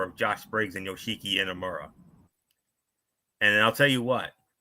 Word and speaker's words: Inamura: Nathan Frazier and Axiom goes up against Josh Briggs and I guess it's Yosuke Iramora. If I pronounced their name wrong, I apologize. No. What? Yoshiki Inamura.